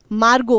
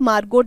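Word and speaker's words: Margot: उनका नाम क्या है मार्गो फ्रैंक अब टी यहां पे साइलेंट है आप बोल के भी बोलना चाहते हो ताकि आपको याद रहे ढंग से तो आप मार्गोट भी बोल सकते हो ऑलराइट ठीक है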